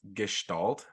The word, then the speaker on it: Gestalt: look at all these I don't think you pronounced the first one right um but that's okay yeah I think it's Gestalt but um I'm